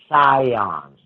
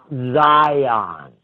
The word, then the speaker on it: Sion: It's called the Priory of Sion. Not Zion. It's spelled S-I-O-N.